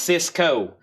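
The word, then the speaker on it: Sisqó: This is pronounced Cisco.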